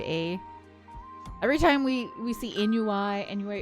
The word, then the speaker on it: ennui: Every time we see ennui, it's ennui. It's actually how it's pronounced, and I have to say it because Nord was the one that corrected me.